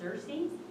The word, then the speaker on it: Xerxes: king a hazaris or xerxes yeah that's pronounced cersei well it depends on